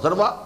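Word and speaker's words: ذروة: سنام کوہان ہے اور ذروہ اور ذروہ یہ دونوں اس کی تلفظ ہیں، زال کے زبر کے ساتھ بھی اور زال کے زیر کے ساتھ بھی، ذروت السنام اور ذروت السنام.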